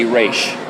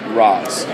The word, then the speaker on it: Ra's: and you are in the league you say Rach it's a sign of respect it's the it's the proper way to pronounce it if you are outside of the